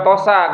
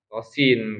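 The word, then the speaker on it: طس: Ya jangan juga tosa gitu kan thosa bukan ya. Tapi th to thosin kan gitu ya.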